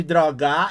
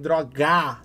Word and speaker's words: droga: Dependente de drogar, ele colocou a sílaba tônica em drogar, tá ligado? É droga, a primeira sílaba tônica da palavra droga é dro, tá ligado?